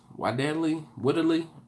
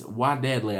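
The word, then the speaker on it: Wadadli: Wadadley, Woodadley. I want to say Woodadley, but it's Wadadley.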